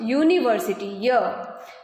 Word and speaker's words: university: Here the beginning letter is U but it is pronounced university. Ya is consonant, so there we will put a as article.